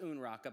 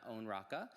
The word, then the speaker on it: Unraka: It's pronounced Unraka, by the way, not Onraka.